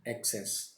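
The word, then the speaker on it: access: सो जो हमसे मिस हो गया था fourth, that is एक्सेस एंड एक्सेस। देखिए जो ए वाला होता है, इसका प्रोनाउंसिएशन को हमें मुंह को थोड़ा खोलना पड़ेगा, सो दिस इज एक्सेस।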